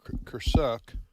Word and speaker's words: Kursk: Ukrainians' military current campaign in the territory of Kursk, K-U-R-S-K, that's my pronunciation.